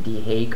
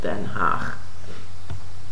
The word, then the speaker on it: Den Haag: War Crimes Tribunal in The Hague on Thursday. It's really weird to pronounce it as The Hague because it's a city in the country where I'm from, and it's called Den Haag.